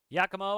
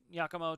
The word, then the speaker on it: Giacomo: Giacomo again. All right, there we go. So Giacomo twice. Giacomo, Giacomo. It's pronounced both ways.